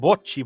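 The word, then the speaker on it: bocce: Italians know about bounce ball. It's pronounced bchi ball.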